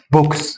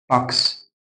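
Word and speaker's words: box: فاكس فاكس فاكس هنا مش هقول بوكس اقولكس باكس باكس هنا مش هقول هوت اقول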